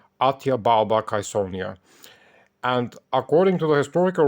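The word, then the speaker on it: Atia Balba Caesonia: Augustus was Atia balbattezonia or if we have to pronounce it as it was back then atya balbakaisonia and according to the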